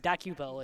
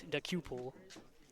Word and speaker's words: Dakupul: It's not Dakupel, it's Dakupul.